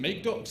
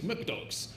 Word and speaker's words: MkDocs: But they asked, do you pronounce it MakeDocs or MKDocs? And the developer replied, I use McDocs.